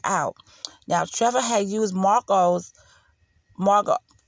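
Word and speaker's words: Macoux: now trevor had used marco's margot her last name is m-a-c-o-u-x now i know that you pronounce that it's marco um and if i'm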